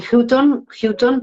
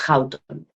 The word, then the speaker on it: Houghton: Pronuncia Houghton. Hay gente que lo dice Houghton, pero No, es Houghton.